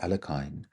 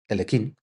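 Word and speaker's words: Alekhine: bell as to how Alexander Alakine or depending how you want to pronounce it, annunciate it, Elkin defeated Capablanca in their world championship match.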